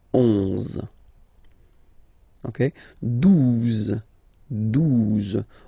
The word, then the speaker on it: douze: exist phonetically, onze, okay, douze, douze, O, U, the two together will give you the sound OU, okay, and then Z, douze, douze, alright.